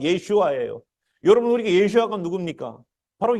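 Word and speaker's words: ישוע: 우리말로는 예수아라고 써놨지만 정확한 발음은 예슈아예요.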